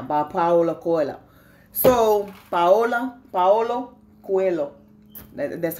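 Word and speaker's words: Paulo: Alchemist right now by Paola coila so Viola Paolo that's how you say his name and I've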